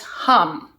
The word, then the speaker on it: Hum: okay last part is super easy it's just hum from hum okay let's practice together hum